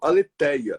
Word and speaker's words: Alétheia: né saiu com th mas em português você não tem o th no final você vai direto aleteia exatamente como eu tô falando